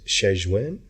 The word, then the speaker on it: Shenzhen: I believe the proper pronunciation is Shenzhen, I believe.